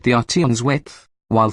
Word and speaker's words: Arteon: prefer, the engineering protophonetically, Volkswagen's new flagship is Arteon. Philosophically, it's ART plus 3 letters tagging along for the ride. Think of it as the RT1 and you'll mispronounce it but nail the idea.